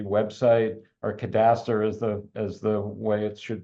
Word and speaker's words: cadastre: The website, the Marine Cadastry website, or cadastre as the way it should be pronounced.